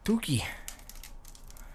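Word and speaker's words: Touki: Tuki.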